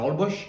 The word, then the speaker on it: Holbox: di nuovo a Tulum, Holbox, che poi si pronuncia Holbox, e da Holbox di nuovo a Cancun per poi prendere un volo che ci ha portati a New York.